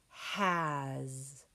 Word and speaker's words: has: Our next word is has. Finger stretch. H-a-z, has. With the word has, do you see that silent E on the end? I don't either. That's a big hint. And A, the vowel, is saying ah.